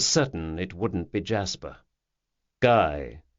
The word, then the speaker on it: Guy: "Guy," he said, "rhymes with high, or would you prefer to stick with the French pronunciation?"